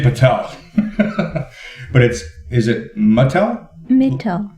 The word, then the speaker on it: Mittal: Mittal. Mittal. So it's not like the toy company, Mittal Toys. It's Mittal.